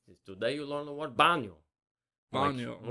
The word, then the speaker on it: baño: Today you learned the word baño.